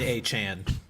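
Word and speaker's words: Achane: called like Raheem Don't Start, with seeing Devin A. Chan, by the way. Devon A. Chan.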